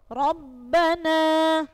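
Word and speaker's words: رَبَّنَا: berharakat fathah Tan tanwin contoh Rabbana ya rabbana rnya berharakat fad r-nya Rabbana coba dilihat contohnya Rabbana rnya berharakat fat fathah jadi r-nya dibaca te tebal yang kedua basiron basiron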